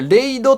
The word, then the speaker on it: RAID: これでレイドって読むらしいん